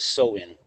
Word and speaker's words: Samhain: Halloween's origins date back to the ancient Celtic festival of Samhain, pronounced Samhain.